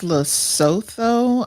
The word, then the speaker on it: Lesotho: And it starts with, what is it, litho something? It's Lesotho. As a matter of fact, the Washington Post has an article about it.